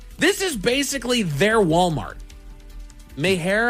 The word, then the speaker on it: Meijer: Mayher, I believe is how you say that.